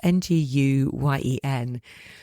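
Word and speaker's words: Nguyen: I never know how to say his surname. Joseph Naguan. It's ng gun.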